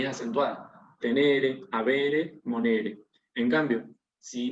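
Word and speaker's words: tenēre: En definitiva, conclusión, como tenere tiene un macrón, es de la segunda declinación, de la segunda conjugación, quise decir. No es de la tercera, porque si no, se pronunciaría tenere, pero acá nos están indicando que tenemos que pronunciar tenere.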